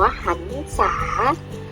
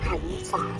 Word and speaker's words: หรรษา: ไป เลย นะ คะ ทำ นี้ อ่าน ว่า หรรษา หรรษา สะกด ว่า ถ.